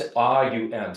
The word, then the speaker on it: Aum: But just the chanting of the Om, you have it's A-U-M, so it's 3 syllables. Aum.